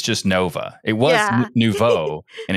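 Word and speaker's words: Nouveau: It was Novo and it's and it's it's spelled in such a way that no one knows.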